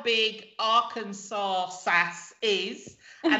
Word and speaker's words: Arkansas: And there's a state that's spelled A-R-K-A-N-S-A-S. Ah, Arkansas. Arkansas. Kansas. Yes, Arkansas.